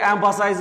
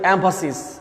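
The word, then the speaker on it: emphasis: উই all should give এমফাসিস dash, এটা কিন্তু অনেকে এমফাসাইজ বলে, শব্দটা খেয়াল রাখবে, শব্দটার উচ্চারণ কিন্তু এমফাসিস, মানে কি?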